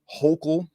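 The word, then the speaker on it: Hochul: new york governor uh i believe you pronounce her name hokel uh gives 10 million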